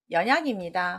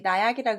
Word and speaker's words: 연약: 답은 연약입니다. 혹시 나약이라고 읽지는 않으셨나요? 자, 이거는 뭐 나약이라고 하는 한자는 저기 아래 이렇게 1급자에 나약할 나자가 또 들어 있습니다. 연자인데 혹시 수레차를 읽으셔서 차약이라고 읽으실 수도 있고 이게 연할 연자니까 잘 보십시오.